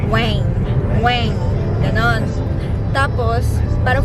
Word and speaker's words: Nguyen: surnames nila kasi yung yung nguyen na spelling n g u y e n it is pronounced as Weng weng ganon tapos parang